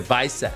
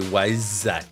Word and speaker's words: Weissach: In German, the W is a B. So it would be the Weissach. Okay. So it's not Weissach, it's Weissach.